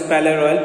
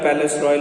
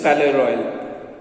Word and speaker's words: Palais Royal: In a shop of the Palais Royal, it is Palais Royal, Palace Royal is written, pronunciation is Palais Royal.